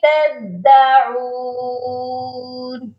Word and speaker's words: تدعون: شفوی کرنا ہے، بِهِ تَدَّعُونَ، دال مشدد ہے، اس کو سختی سے پڑھنا ہے، تدعون نہیں پڑھنا، تدعون، کلیئر ہو گیا؟